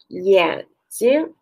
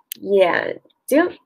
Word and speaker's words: 眼睛: Yan Jing is a light pronunciation. Look at my mouth. Yan Jing.